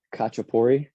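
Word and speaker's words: khachapuri: there's one food particular it's called kachapori um I know I butchered the sound that you have to make with the with the K there in the back of the throat but it's basically just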